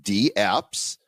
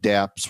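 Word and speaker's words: dApps: the correct pronunciation is d apps and it's kind of like email so when we call it damps we're kind of disrespecting the the name so i think we should call it DAPs actually that actually makes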